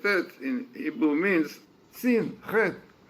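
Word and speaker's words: חטא: in Hebrew means sin, Chet. In Hebrew you write Chet, Tet, Aleph. The Aleph is paralyzed. We don't pronounce it.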